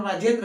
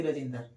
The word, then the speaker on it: राजेंद्र: नाम क्या है राजेंद्र तो सही उच्चारण राजेंद्र हुआ ये ना कि राजेंद्र ठीक है तो इस तरह